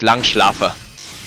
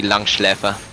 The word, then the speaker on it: Langschläfer: The way it's spelled, he's not using an umlaut. So it's Langschlafer. But that doesn't make sense. It should be Langschläfer.